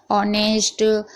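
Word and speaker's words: honest: यानी कि एच है उसके बाद कोई भी मात्रा है जैसे कि ए, आई, ओ, यू, तो एच साइलेंट रहेगा। यहाँ पर आप पढ़ लीजिए ऑनर, ऑनेस्ट, हम्बल, यहाँ पर सभी में यहाँ पर एच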